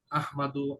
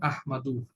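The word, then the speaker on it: أحمد: আসল উচ্চারণ আহমাদু, আর ওয়াকফ ও, করলে আহমাদ।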